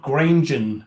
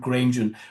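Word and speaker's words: Granjon: Pardon my French uh Robert Grenen. You probably pronounce it Robert Grunen.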